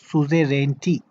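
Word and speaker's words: suzerainty: इसको कैसे प्रोनाउंस करेंगे? सुजेरेंटी.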